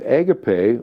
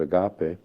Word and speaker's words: agape: And agape, or some pronounce it agape, is the scale of your sense of empathy and all-inclusiveness toward others.